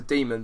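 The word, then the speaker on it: daemon: It's known as a demon, but it's Got the A spelt thing. it's spelt differently, but it's pronounced demon apparently.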